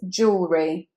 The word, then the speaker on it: jewellery: Just 2 syllables here. Jewellery. You don't want to say jewellery, although I believe in the USA that is how they say it. But here in the UK we say jewellery. Jewellery. So that E is said as oo.